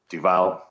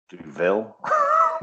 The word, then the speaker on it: Duvel: But yeah, apparently it means devil, so it's Duville.